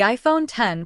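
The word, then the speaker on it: iPhone X: Again, the iPhone 10, pronounced 10, launched alongside the iPhone 8 and 8 Plus.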